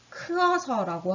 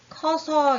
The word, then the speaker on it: 커서: 크어서라고 하는 게 아니라요. 이 크의 으가 떨어져 나간다. 그래서 우리가 커서 이렇게 쓴다라는 걸 바로 으탈락이라고 해요.